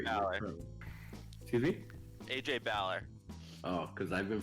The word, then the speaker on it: Balor: AJ Bauer. Oh, because I've been pronouncing it like in my head AJ Baylor this entire time. Yeah, Baylor is the actual NBA player and Balor is the Irish professional wrestler.